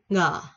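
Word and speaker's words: ㅇ: Nè, số 8 là chữ ngờ. Ngờ. Nè, số ngờ của Việt Nam thôi, nghi ngờ, ngờ.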